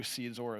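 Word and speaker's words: SeedXOR: would buy a cold card solely to do SeedZor of seed phrases. Can you spell that?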